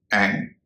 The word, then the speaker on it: add: ADD, जोड़ना, एड न कि एड।